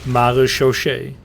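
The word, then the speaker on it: marechaussee: But we pronounce it maréchaussée.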